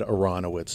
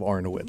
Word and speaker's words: Arnowitz: First time I heard it on the radio, they mispronounced my last name. So I was just focusing that they said Aronowitz instead of Arnowitz.